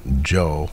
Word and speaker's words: Cho: name is actually pronounced Joe almost like J like Jo uh but it's spelled Cho C CH it's very interesting that's I guess the Korean pronunciation is Joe very interesting oh maybe